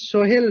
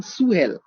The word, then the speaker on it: Sohel: loyal liberal hotel okay in west bengal in bengali belt i am saying my name is soheil but in urdu belt they don't have sound they are saying sue hell they cannot conscious is